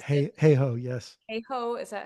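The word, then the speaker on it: Hayhoe: it's Katherine hey Hawk that says heho yes heho is that how you pronounce it thank you um the single most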